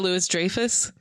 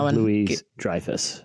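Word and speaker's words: Louis-Dreyfus: I was saying it was not the syllable I thought was going to get you. Gotcha. Okay. Julia Louisis Drafus. How do you say it? Dang it. Yeah. Julia Louise Drifus.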